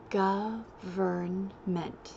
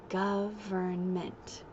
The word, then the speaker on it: government: do that first government government if they say it wrong say let's practice govern mint so break it up into syllables govern meant government very good Sarah Sarah